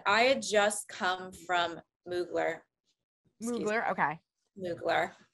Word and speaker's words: Mugler: the dress and I had just come from moogler okay nuclear not muggler according to this person over here in the